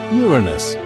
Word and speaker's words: Uranus: make junks with its name but it's actually pronounced Uranus Uranus is the seventh planet in order from